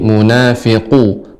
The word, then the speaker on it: المنافقون: Untuk pengucapan huruf qaf Ibu, ya qaf ini bagian yang lunak. Jadi pangkal lidah paling belakang menempel atau melekat pada daging yang lunak bagian atas. Jadi munafiqu, qu. Nah, seperti itu.